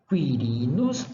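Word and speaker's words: Quirinus: nome de pessoa quirinos Quirino Quirino então a pronúncia when on quem quietos non quietos kirinus Now kirinus próxima letra R que se pronunciavam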